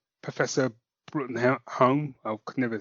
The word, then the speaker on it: Bruttenholm: the BPRD, and that's not Professor Bruttenholm. I could never say his name right, but you know, Do you know it's pronounced broom?